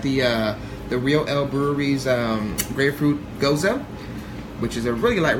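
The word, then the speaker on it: Gose: I thought it said goose. Sorry. It's Hinche if Mexicano. you read it, you know, it says goose. You know, Yeah, but it's no, pronounced Goza.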